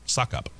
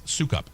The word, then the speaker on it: Sukup: Despite the fel despite the despite the fact that it looks like it could be pronounced suckup, uh, it's SUKUP a manufacturing.